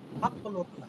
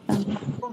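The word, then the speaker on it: عقل: হুম আকল কা আকলুকা, আকলুন হচ্ছে মজদার, গ্রামারের কাজ চলে আসবে। আকলু মস্তিষ্ক। তাহলে এখন এটা হবে কি, উর্দুতে উচ্চারণ হবে আকল। আকল আকল কাফের উপর জবর হয়ে যাবে।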